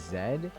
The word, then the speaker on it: Z: According to Google, yes, Canadians generally pronounce the letter Z as zed. This pronunciation is hold over from British English is more common in Canadian than American pronunciation Z. While Z is also understood in Canada.